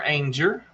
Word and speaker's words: Anger: We got Jennifer Anger, and she tells you how to say her name up there. She tells you it rhymes with danger.